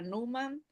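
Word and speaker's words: pneuma: otra palabra la palabra numan o neuma se escribe neuma pero se pronuncia Numa dice esta palabra principal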